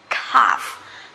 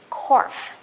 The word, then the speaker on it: cough: it is not but it's not you know like oh or something like this this is ah okay cough cough for british english and for american english corf corf the same that is a